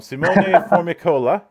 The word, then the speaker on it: Simone Formicola: screw up pronunciation um simone formicola it's quite perfect thank how you do